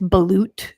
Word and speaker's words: balut: Apparently, it's balut is the way it's pronounced.